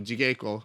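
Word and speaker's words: 地稽古: But there's no soft G's in Japanese. If you use G in Japanese, it's always a hard G.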